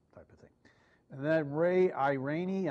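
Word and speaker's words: Irani: of thing that Ray I rainy i believe is the way he pronounces his name from occidental petroleum which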